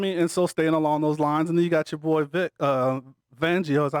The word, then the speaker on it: Vic Fangio: I mean, and so staying along those lines, and then you got your boy Vic Fangio. Is that how you say his name? Yeah. Vic Fangio.